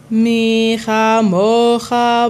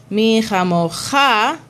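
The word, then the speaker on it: מי כמוכה: So again, the metig is a secondary accent to bring awareness to the syllable that needs extra care. So in this case, instead of saying mi chamocha, mi chamocha.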